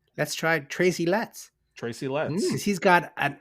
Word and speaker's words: Letts: For I think his name rhymes with get or gets. Let's try Tracy Letts.